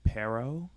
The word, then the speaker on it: Pearo: is just search pero my last name is spelled PE aro it's like the fruit pear with an O on the end so if you like